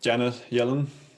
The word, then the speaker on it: Janet Yellen: Let's move on to Janet Yellen. Do I pronounce that correctly?